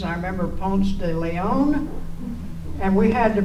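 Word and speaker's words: Ponce de León: us try to pronounce their names I remember Pon de Leon and we had to pronounce it we pronounced it Pon de Le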